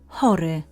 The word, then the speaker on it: Chory: Chory, ill. Note that CH is always pronounced as H. Avoid the tendency to pronounce CH as K or Ch.